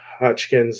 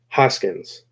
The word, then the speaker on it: Hoskins: and then we get to see basically uh hodgkin's and keep saying i want to make sure i keep saying it right because new character hard to learn hoskins lamar okay so lamar lamar lamar so we